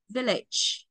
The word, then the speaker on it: village: Mà tí nữa các bạn học bạn sẽ trọng âm rơi vào một đấy. Nó không rơi vào lít đâu ạ. Nên là đọc vi lít là sai hết rồi.